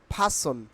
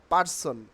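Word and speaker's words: person: by today with a ফাসন নট পার্সন আমি আজকে একজন ব্যক্তির সাথে দেখা করব তাই না তাইলে কি হবে নট পার্সন কি হবে ফাসন it will be pronounced only ফাসন ফাসন ফাসন ফাসন please আপনি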